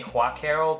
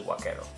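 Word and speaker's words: Huaquero: it called black arrow because in Spanish that H is silent so anyway yeah it's what cattle not wat Carol I know a lot of people like to say Kwok arrow but it's actually what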